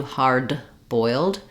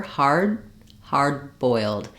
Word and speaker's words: hard-boiled: So in hard-boiled eggs, we have a D followed by a consonant sound. So hard-boiled, hard-boiled. I don't need to let that D out. I don't do hard-boiled. It would, again, interrupt the flow. So I use my unreleased D. It sounds like hard.